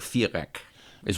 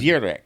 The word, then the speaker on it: Viereck: if it was pronounced in German, he'd be GAY - org FEER - eck...is what he'd be in German. : VEER - eck.